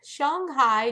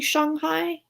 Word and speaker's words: Shanghai: it's supposed to be Shanghai? It's Shanghai. Because it definitely was always Shanghai. I think that Americans call it Shanghai, but the proper way to say it is Shanghai.